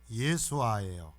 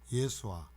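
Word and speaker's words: יֵשׁוּעַ: 표기할 수가 있어요 그래고 히브리 본래 예수의 발음이 예수아 예수아 근데 어디를 거쳐서 왔어요 우리이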